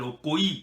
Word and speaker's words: Okoye: Okoye, hein, vous l'appelez Okoye, moi je l'appelle Okoye, parce que ça c'est un nom, il y a le i là, hein, il faut le prononcer.